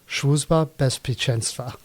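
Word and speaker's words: Bezpieczeństwa: Of course, as punishment, I will pronounce it in Polish, which is best picensa.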